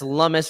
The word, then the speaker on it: Lummis: That's Lummis rhymes with hummus for all my Greek brethren out there.